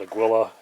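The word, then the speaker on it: Águila: I've been told by somebody who was Spanish-speaking that it's Agia, but a lot of people call it Aguila.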